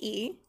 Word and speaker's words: y: The letter Y is pronounced E, and it's and, y me gusta patinar.